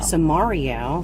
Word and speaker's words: Samario: sitting here with dominique how do you say your last name samaria so mario from the city of